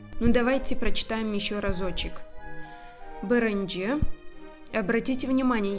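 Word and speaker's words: birinci: Бырынджи. Обратите внимание, я также читаю как бы твердо, не биринджи, а бырынджи. Если вы даже скажете мягко биринджи, то это тоже правильно.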